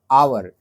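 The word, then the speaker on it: hour: आवर में एच ओ यू आर होता है। तो एच जो होता है वो कंसोनेंट होता है। लेकिन उसको हम लोग प्रोनाउंस कैसे करते हैं? आवर।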